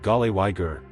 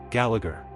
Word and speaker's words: Gallagher: Americans sometimes say gal wiger like it ends with ager. But the common pronunciation is jalagger.